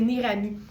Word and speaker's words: Neirami: que c'est franchement formidable, ça s'écrit Neirami. Donc, Nérami avec Nei.